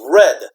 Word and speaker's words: read: in pronunciation okay so a base form is read right I read a book every day I read okay and then this is past form is read okay like the color okay same pronunciation read read read I read every day